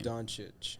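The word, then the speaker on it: Dončić: uh how do you say luca's last name don chitch yeah so him from the mavs i don't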